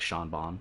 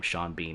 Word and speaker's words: Sean Bean: The BH in Sean Bean is pronounced like a V, and the whole word is pronounced like Vaughn. Like Sean Bon, yeah.